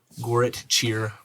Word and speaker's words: Goretcir: And this specific area that you guys are in is called the Goret Cheer Promenade. That's spelled Goretcir.